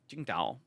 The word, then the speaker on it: Tsingtao: And you're not just gonna get a France Tsingtao either.